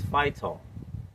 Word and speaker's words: phytol: It contains potent anti-inflammatory compounds such as phytol. Now, it sounds like it has the word fight in it.